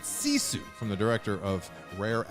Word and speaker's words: Sisu: You don't say Sisu like we were all saying for a while. That's I'd say right. you pronounce it Sisu from the director of Rare Export.